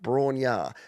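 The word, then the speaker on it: Bron-Yr-Aur: Here's a cover of Led Zeppelin's tune Bror pronounced Brar.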